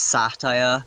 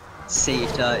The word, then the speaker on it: satyr: Yeah, it's satire here, satyr in America.